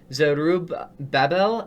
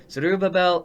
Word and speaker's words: Zerubbabel: I can't even pronounce that name. It's Zerubbabel, I believe is what the name is. Zerubbabel Endicott.